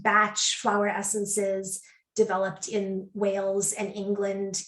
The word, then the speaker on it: Bach: many the um so-called bach although it's actually meant to be pronounced batch flower essences developed in